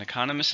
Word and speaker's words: economist: An economist is somebody who studies the economy. Since it's a job, we know it's a countable noun. How many syllables? Economist. 4 syllables, stresses on the second syllable.